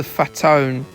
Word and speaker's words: Fatone: I guess that's why he's the Fatone. Fatone's spelled the same way as Fat One. Yeah, it doesn't really work when you say it, does it?